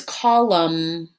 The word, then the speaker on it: column: it's spelled like this it has a silent and it's spelled c o l u m and the word is column it doesn't have an n sound at the end that n is silent oh my goodness do